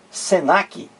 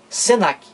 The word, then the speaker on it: Senac: cinco letras muito bem eu pronuncio Senac cada letra dessa separadamente eu digo assim ssn a cê não é pronuncio Senac Diferentemente daqui ó INSS